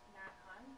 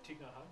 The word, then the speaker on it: Thich Nhat Hanh: I've been reading some, is it Nat Han? I don't know how to say his name. He's a Buddhist monk. Thich Nhat Hanh?